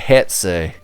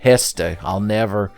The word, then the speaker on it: Hestu: Oh, by the way, the best thing about coming to the Lost Woods is that Hetsu. Did I say his name right for once in my life? Hestu.